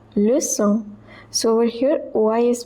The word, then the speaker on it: leçon: Que troisième leçon. So over here OI is pronounced as wa. Troisième leçon. The C, it has cédille below it, so it is pronounced as so.